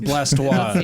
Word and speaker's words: Blastoise: It's pronounced blastoia.